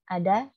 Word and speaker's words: ad: Ad. Ad. Iya, pakai D ya. AD gitu. Ad.